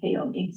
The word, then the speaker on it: Kaomi: of how it looks, there's a Gaelic name pronounced qua. Please don't call me qua, but if you it's something like my name, Kaomi.